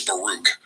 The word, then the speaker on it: Baruch: correctly this programming it's Baruch so like Farouk and Baruch there is a second